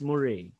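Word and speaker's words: moiré: phenomenon effect so moray when i first read it i i was pronouncing it as more or mo or mora anyways the safest pronunciation for it is murray murray phenomenon so the murray phenomenon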